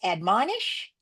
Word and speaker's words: admonish: If he breaks it this way and says admonish, I say, you got the first syllable right, you got the last syllable right. Flex this to a short O.